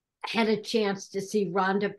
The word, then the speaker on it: Rhonda: Because if you've ever had a chance to see Rhonda Pierce from Schmetz Needles do a seminar, she does them at expos and different things, take her class.